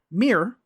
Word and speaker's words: mirror: people saying the word mirror, where did he get the information that said this was an error? Does he say it's an error because the dictionary says that you should have 2 syllables?